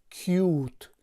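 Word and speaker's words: cute: که مثلا اینجا ببینید این مثلا کوت نمی شود یا کات نمی شود، تلفظش می شود کیوت که در اینجا آورده شده است.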